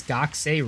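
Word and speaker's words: 学生: It's just you say ku really quickly. Like, you could pronounce it Gakusei if you really wanted to, but nobody says it that way.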